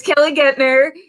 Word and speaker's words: Kelly Guentner: name's hard to pronounce it's kelly gettner uh it's german so you don't pronounce the first vowel uh and i'm with